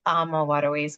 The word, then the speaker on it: AmaWaterways: I always like to start off saying, how do you even pronounce the name of our company? Is it AmaWaterways, AmaWaterways, or AmaWaterways? And it's AmaWaterways.